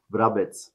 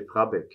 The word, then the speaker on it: Vrabec: Roland Vrabec. Ikke? Ja? Ikke? Vrabec. Roland Vrabec. That's Croatian. So Vrabec is a Croatian name. Even the Germans have problems to spell it right. They say Vrabec.